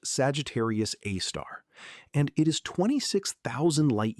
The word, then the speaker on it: Sagittarius A*: It is called Sagittarius A*, pronounced Sagittarius A*, and it is 26,000 light years from where you are sitting.